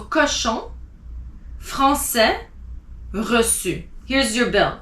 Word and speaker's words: cochon: Then you have cochon. CO is co. CH is sh. ON is on. So cochon.